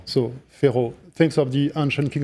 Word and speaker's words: Ferrault: u l t and half of the letters we don't pronounce we don't pronounce at all so Pharaoh thanks of the ancient